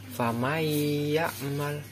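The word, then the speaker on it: فَمَن يَعْمَلْ: sukun bertemu ya famayakmal cara membaca yang benar yaitu famaiyakmal itu tadi cara membaca yang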